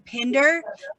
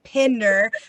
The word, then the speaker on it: Pinder: So, anyway, that said, we're saying Pinder, Pinder. So if you are above Maryland, we're pronouncing the I.